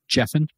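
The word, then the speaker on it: Giffen: Comics artist and writer that's pronounced jeffin jeffin jeffin jeffin fuck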